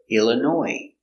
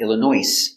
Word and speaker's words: Illinois: is a city in Illinois Illinois comes from French too so we have a silent s in French words they have S at the end it's silent so Chicago Illinois not Illinois no s Chicago Illinois do you